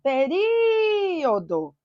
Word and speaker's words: período: Período. Período. Cuidado com a palavra período, porque ela é muito recorrente em prova. Período. Qual é a sílaba tônica? Ri.